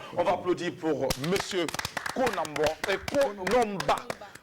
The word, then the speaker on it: Konomba: On va applaudir pour monsieur Konomba. Voilà, c'est la bonne prononciation. Konomba.